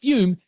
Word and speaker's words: Fume: FUM, pronounced Fume, is an award-winning flavored air device used by more than half a million customers.